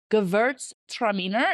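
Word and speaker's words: Gewürztraminer: Pronunciation, Gewurztraminer.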